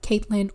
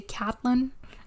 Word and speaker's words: Catelyn: be Kate okay well it's katyn actually people pronounce it like Caitlyn or catlyn I heard it in the show and they say catlyn and I like that